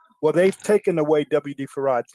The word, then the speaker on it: Fard: his own name farad everyone who heard him pronounce his name say that he pronounced his name farad right farad well they've